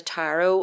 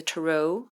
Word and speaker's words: tarot: therapists would use like using the tarot or as americans say the turo well i think we might have just got into saying the tarot and we could be wrong you know i don't